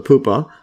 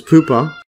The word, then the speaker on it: pupa: this um to this poopa yeah or Pupa I think that's how you pronounce it and then yeah